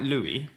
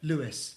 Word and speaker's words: Lewis: So now Louis Ham, not quite Louie. How do you pronounce it? Lewis Lewis Hamilton.